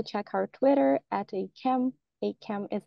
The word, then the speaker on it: ACAMH: ACAM is spelled A-C-A-M-H.